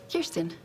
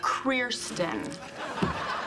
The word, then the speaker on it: Kirsten: ] kristen hi kristen everyone pronounces it wrong the r is after the eye kirsten and before the eye it's kriersten your table's ready now